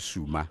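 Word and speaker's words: Zuma: For me personally, I'm very happy for Ndate Suma, which is what we call him. We don't pronounce Z in Sesotho, we call it S.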